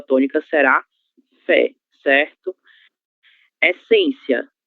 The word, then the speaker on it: essência: Essência, sílaba tônica em. Temos o nosso acento circunflexo nessa sílaba.